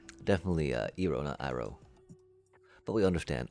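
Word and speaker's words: Iroh: And then I know I know I said Ero sorry sorry phonetically phonetically if we're thinking about the Eastern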